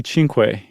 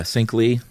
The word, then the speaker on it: Cinque: it matume matume and it might be Cinque oh really yeah because they were super into Che Guevara and the Cuban Revolution so anything that looks even remotely Spanish is probably pronounced like that okay well I don't know Spanish so I'm gonna pronounce it like Spike Lee style okay I think that's